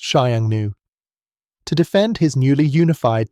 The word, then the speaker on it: Xiongnu: After conquering warring states and forging an empire, Qin Shi Huang faced a significant threat from the north, nomadic horsemen, particularly the Xiongnu, pronounced Xiangnu.